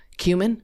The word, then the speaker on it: Kumin: Cumin, like the spice. Cumin?